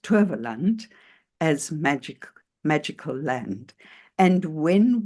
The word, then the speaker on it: Towerland: And I just wanted to start off with where Hanien left off, where she spoke about the Afrikaans translation of Towerland, which is pronounced Toverland, as magical land.